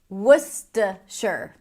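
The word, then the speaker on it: Worcestershire: Worsher as in add some worsher sauce to your bloody Mary, my friend.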